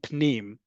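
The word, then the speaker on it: פְּנִים: Panim and pnim, even though they are spelled similarly, they are pronounced differently and need to be thought as different.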